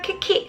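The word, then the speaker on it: 危機: 코로나 키키. 자, 요것도 정말 여러가지 시험에 정말 자주 나오는 단어입니다. 위기죠. 위기를 뭐라고 읽는다? 짧게 2글자입니다. 키키라고 하시면 돼요. 키키예요.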